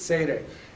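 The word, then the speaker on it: tsere: Well, this one is called seire. Come back here. When they're horizontal, it's seire. And it can be, sometimes they'll spell it as a Y in a word, like he, well, whatever. Well, you'll see it here in just a few minutes. Sometimes they pronounce it or use it in the EI, like 8 sound, and sometimes the EY, like they.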